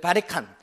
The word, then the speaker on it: 바리깡: 근데 베리컨트의 발음을 일본 사람들이 이제 문명이 개화되면서 이거를 수입해 왔는데 베리컨트 발음이 안 돼요. 그래서 바리깡 하면서 이게 변한 겁니다.